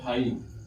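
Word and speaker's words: high: रखा है जीच साइलेंट जैसे कि य प लिखा हुआ हाई हाई यहां पर जीच क्या है साइलेंट है तो एच आई हाई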